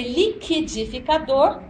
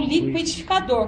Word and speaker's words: liquidificador: agora não tanto faz podia ser liquidificador ou liquidificador com trema mas caiu o trema Mas tudo bem As duas pronúncias são corretas liquidificador ou liquidificador agora 50 só tem